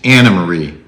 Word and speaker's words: Anne Marie: It's spelled Anne Marie, but as she pointed out to us and everyone else on the cast, it's Anna Marie pronounced Wiley.